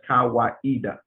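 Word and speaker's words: Kawaida: swahili word meaning tradition and reason it is pronounced as kawaiida he defines kaweda as a communitarian african philosophy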